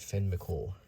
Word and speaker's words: Fionn Mac Cumhaill: Renowned for his strength and wisdom, Fionn, also known as Finn, okay, it's probably pronounced Finn McCool. Okay, Finn McCool. So that's how we should say it, Finn McCool.